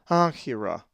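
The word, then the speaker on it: ἄγκυρα: A Greek word that has the double consonant gamma kappa is ankyra, which means an anchor, and is number 45. The accent is over the alpha, ankyra.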